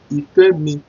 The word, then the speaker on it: Ifemi: You know, how do you pronounce Ifemi? You know, Ife, Ife, Ifemi, Ifemi, I-F-E-M-I, Ifemi.